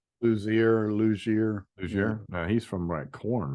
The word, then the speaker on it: Luzier: Luzier.